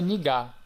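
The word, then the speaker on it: 네가: Bem, como vocês podem observar, se escreve nega com a letra e, porém se pronuncia nigar.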